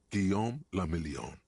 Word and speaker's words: Guillaume le Million: For Revachol, your city, that meant only one thing: Guillaume le Million. If it doesn't rhyme, you're not pronouncing it right.